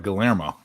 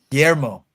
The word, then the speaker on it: Guillermo: they're Tucci yeah but his first name is like gallerma Guillermo that's what it was yeah does anyone know